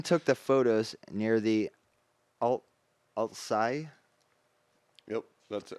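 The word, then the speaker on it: Altsaigh: After testing it in local ponds, the group took it up to Loch Ness, where Ian took the photos near the Altsai Yep, that's how you say it.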